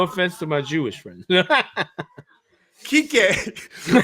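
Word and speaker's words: Kiké: Kik Hernandez cuz I feel like his first name, if you say it in an English pronunciation, is just designed to get you kicked off YouTube.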